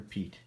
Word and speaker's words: Piet: Sharpen Blade here, and in this video, we are going to be taking a look at the CRKT Piet. It's pronounced other ways, but I prefer Piet.